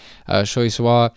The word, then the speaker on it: Choiseul: I ultimately settled on the 2-horse, though, Choiseul, I think I'm saying that right, the number 2 horse with the French pronunciation there, Choiseul, for trainer Simon Crisford.